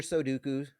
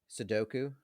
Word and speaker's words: Sudoku: Which word do you think parents mispronounce most? Is it Sudoku, or is it Chipoltay?